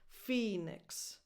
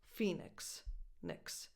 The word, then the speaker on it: Phoenix: Phoenix. You go from the N to the X, whatever comes out, that's your vowel. Phoenix.